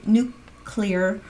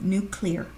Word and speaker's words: nuclear: the D new key nuclear ization everybody gets upset with me the way I say new clear so I'm trying to say it properly nuclear nuclear ization of the